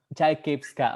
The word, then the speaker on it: Chaikivska: Yeah, Indonesians usually have the problem with my family name, but we spell it like Chaikivska. Chaikivska. Okay, Chaikivska.